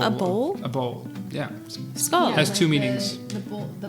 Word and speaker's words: Skål: Skål. Yeah, skål. Skål. Skål, Which also means with the D. bowl, a bowl, like a bowl. A bowl? A bowl. Yeah. Skål.